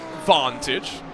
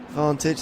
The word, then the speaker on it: Vantage: I must say, the new Vantage, give it its proper British pronunciation, doesn't that have the engine from a Merc?